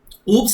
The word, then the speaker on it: OOPS: Oops is nothing but object oriented programming. Here S is silent.